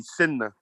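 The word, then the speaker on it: sena: So A-K-H-U is brother, or you could say S-E-N-A, Senna, Senna.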